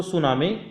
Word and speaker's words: tsunami: जो स्त्रीलिंग होती है टी से शुरू होती है मित्रों टी क्या होता है साइलेंट होता है फिर एस यू एन